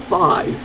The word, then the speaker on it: Fi: think is overheated is fee and before you say anything yes i know the proper pronunciation of her name is phi but i hate that